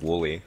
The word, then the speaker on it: WLE: I've just been informed yet again that WLE is pronounced Woolly, so I think I might have to have a list of players on Dude, Testudo.